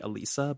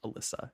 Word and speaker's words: Alyssa: I think some people said it was like Elisa, but I think her name is pronounced Alyssa. That's how it's spelled.